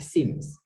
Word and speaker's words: seems: It seems, dibacanya seems. I-nya itu panjang, seems.